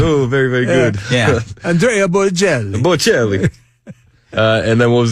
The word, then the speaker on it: Andrea Bocelli: So what I'm trying to do is see if Chris shanks the pronunciations as well. Andrea Bocelli.